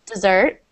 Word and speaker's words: dessert: Yeah, so we pronounce the second as if it was the last meal of the day, so dessert. and the first as desert.